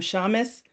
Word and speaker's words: Shamus: As Jackie said, I'm Shamus, rhymes with promise, founder and CEO